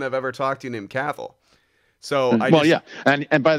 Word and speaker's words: Cathal: ever talked you named Cathal so oh yeah and by the and so you don't you don't pronounce the T yeah and it's Gaelic for Charles and it is pronounced ah yeah so don't